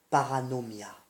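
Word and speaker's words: παρανομία: La transgression, en grec, se dit paranomia.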